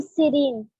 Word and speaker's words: siren: I'm Siren. Siren. It's siren. Siren answer correct है बट उसको साइरन pronounce करते हैं.